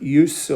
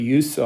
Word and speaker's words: use: 가장 기본적으로는 use utilize 동사 구로 표현해서 make use of 여기서는 명사니까를 이걸 스발음을 해야 되죠. make use of 동사는 자, keep in touch with하고 get in touch with가 형태는 유사한데 조금 의미가 다르죠.